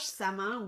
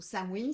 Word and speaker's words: Samhain: Alors, pour cette semaine du 27 octobre, comme on approche Samin ou Samhain, selon comment tu le prononces, eh bien, j'ai eu